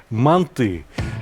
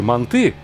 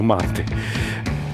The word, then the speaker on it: манты: А я советую готовые манты, да-да, я произношу на узбекский манер, потому что я родился и вырос в Узбекистане. Мы говорим манты. Так вот, готовые манты, а не манты, непременно смажьте кусочком сливочного масла.